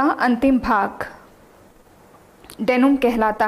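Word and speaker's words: denouement: तो कोई इसको पढ़ रहा होगा डिनाउंटमेंट, कोई डिनोटमेंट पढ़ रहा होगा, बट ऐसा कोई भी प्रोनाउंसिएशन इसका नहीं होता। डेनुम, डेनुम, एन तक प्रोनाउंसिएशन होगा, डेनुम।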